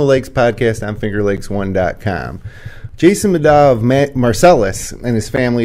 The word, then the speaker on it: Middaugh: Middaugh, okay.